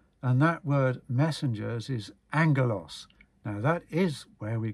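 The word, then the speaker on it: ἄγγελος: It's spelt A-G-G in Greek, but it's pronounced A-N-G. That's how it's said, angelos.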